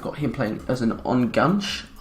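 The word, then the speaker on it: Enganche: him playing as an on gunch or n gunch i believe you pronounce that um his composure isn't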